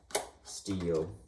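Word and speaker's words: Stihl: I pronounce it Steel.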